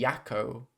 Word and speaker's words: Jacko: The J in Jacko is pronounced like a Y, so it'd be Yakko.